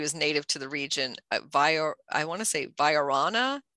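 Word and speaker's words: viorna: Viarana is how it's pronounced, or vase vine is I think the common name for that.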